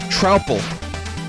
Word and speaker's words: Troupple: It's pronounced trout and apple. Trapple. Truple? Trouple? Troupple.